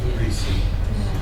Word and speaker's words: receipt: receip receip receipt receip silent P receipt when you go to